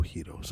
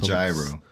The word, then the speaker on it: gyro: real heroes. I mean, the real Wait, how did you authentic pronounce that? heroes. Yeah. Okay. All right, I'm just Right? checking. I'm just checking. The real ones. Y'all, Not gyro, some might right?